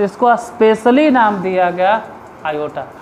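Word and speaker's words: iota: मान जाएगा, तो इसको स्पेशली नाम दिया गया आयोटा।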